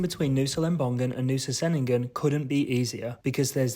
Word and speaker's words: Ceningan: Although Nusa Ceningan, we have since learned that it's actually pronounced Ceningan.